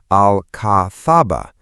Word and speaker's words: Alcazaba: The Alhambra's Nasrid Palaces and Alcazaba, pronounced Al Cathaba, fortress were evacuated as